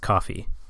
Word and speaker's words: Ko-fi: Wait, I think it's pronounced coffee.